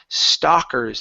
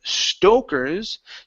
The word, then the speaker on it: stalkers: Okay, next one here, pronunciation on stalkers instead of stokers. To stoke is something different than stalk.